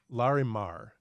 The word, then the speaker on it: Larimar: look like they are oh sorry it's larry larimar l-a-r-i-m-a-r i did have that there okay sorry